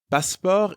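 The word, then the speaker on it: passeport: you for your basketball baspar is the french word for passport the pronunciation is almost the same as in english but you don't pronounce the t sound at the end we would have a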